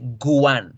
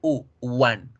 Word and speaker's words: one: El número 1 no se dice guan, se dice one, one, u.